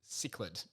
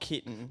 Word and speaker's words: cichlid: It's pronounced cichlid. Not kitten. Not kid.